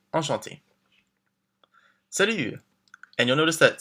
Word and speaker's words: enchanté: And don't forget, if you're a woman, we add the extra E, but it's the same pronunciation. Enchanté.